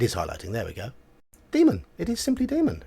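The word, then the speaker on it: daemon: pick up on here see this d-a-e-m-o-n a e is simply pronounced e so in the variant spelling of encyclopedia it's a encyclopedia this is simply a variant spelling let's say a demon it's not Damon demon that's all it is oh I have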